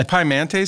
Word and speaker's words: Pimente: How would you pronounce that name? And lower at the bottom in parentheses. Pimente.